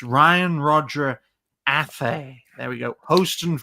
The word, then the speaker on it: Athay: I mean, sometimes people get my name wrong. It's Ryan Roger Athay.